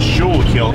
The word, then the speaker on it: Schuylkill: I pronounce it Schuylkill.